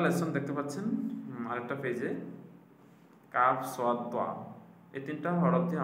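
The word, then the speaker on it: كاف: সহজে চিনবেন যেটা কাফ এটা সিম্পলভাবে উচ্চারিত হবে তারপর আম জেনে উচ্চারণ স্থানটা কিসের মত? জিহবার গোড়া থেকে একটু আগে আগে বাড়িয়া তারপর উপরে তালের সঙ্গে লাগাইয়া।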